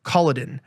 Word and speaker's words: Kolodin: He is Real Alex Kolodin. That's even how you pronounce it.